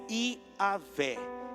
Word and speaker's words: Iavé: Porque eu sou o que sou dá origem ao nome Yahvé. O nome de Deus é Iavé.